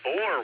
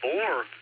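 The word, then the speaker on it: Boer: Possible answers are Alpha, the US Civil War, Bravo, the Boore War, which is spelled B O E R, or Charlie, the SpanishAmerican War, or Delta, World War I.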